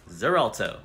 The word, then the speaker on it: Xarelto: blood thinners which one I think it's pronounced X allarto does it start with an x yes Xarelto great what else ass effects